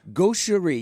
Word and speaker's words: gaucherie: Gaucherie, yeah, but it's spelt like it's all Frenchified. Gauch. Yes. E-R-I-E. Yeah. Gaucherie.